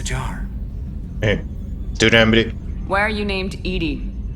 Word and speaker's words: EDI: why are you named Edie Edie is the phonetic pronunciation of EDI that is an acronym for enhanced defense intelligence the position where are